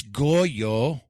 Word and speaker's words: Goyo: Or C, I can state something that rhymes, like it's Goyo, which rhymes with pollo.